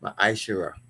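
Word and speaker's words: מעשר: And it means tenth in the Hebrew is pronounced ma'ashera.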